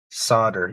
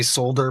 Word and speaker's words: solder: solder, I hear is Solder. Yeah, that's how we say. Most people say solder. A lot of people don't pronounce the L. I've heard some people in Canada say solder, but not too many.